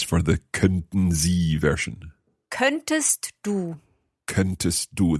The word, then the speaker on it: könntest: Könntest du. Könntest du. There we are pronouncing that T, könntest du.